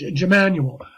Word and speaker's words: Emmanuel: godly knowledge and expelled je ma nu e el and it's pronounced Emmanuel now that is I